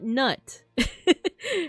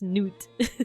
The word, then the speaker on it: Nut: name is it's not nut her name is spelled nut but it's pronounced noot like no noot and